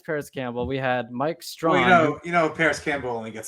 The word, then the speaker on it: Strachan: How about Michael Strachan? Yeah, it's Mike Strawn. How what's his name? Mike Strawn. It's pronounced Strawn. Oh, it's not that you don't say the ch.